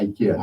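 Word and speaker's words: IKEA: あそこの発音はイケアなんですって。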